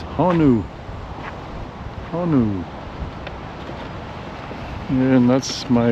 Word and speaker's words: honu: And it's honu.